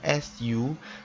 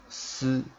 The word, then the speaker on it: す: Okay, so normally when we pronounce SU, it's not really Su but Si.